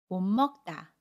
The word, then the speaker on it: 못 먹다: 모세 받침 시오 꽈 첫소리 자음 미니 만나면 몸 먹다 라고 발음 해요 같이 임씨 옷은 미리 은으로 첫소리